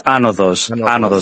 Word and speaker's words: Anodos: Because I'm with the entire rest of the team, and as Greek speakers, we're like, it's Anodos, accent on the first.